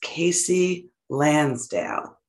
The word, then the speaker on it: Kasey Lansdale: out next june and my guest today is casey lansdale did i pronounce that right casey nailed it thank you